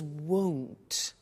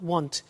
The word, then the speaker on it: won't: with the money is won't be careful with the pronunciation it's not want its world so the